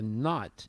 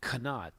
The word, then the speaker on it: knot: So K-N-O-T, you don't pronounce it kanot. You pronounce it normally in English as a knot, but N-O-T is also pronounced as not.